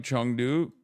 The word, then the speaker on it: Chengdu: It is pronounced like Chengdu.